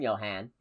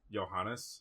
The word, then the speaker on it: Johannes: I don't I I assume Johan is how you pronounce that. Johannes.